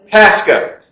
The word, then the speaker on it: Pascoe: Can you just please pronounce it correctly? Pascoe.